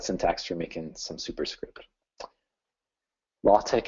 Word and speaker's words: LaTeX: for making some superscript latch is spelled like latex so if you are